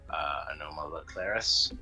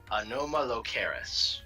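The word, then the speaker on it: Anomalocaris: I believe, is based on Anoma laclaris. I get the name wrong a lot. Anoma locaris. Yeah, there we go.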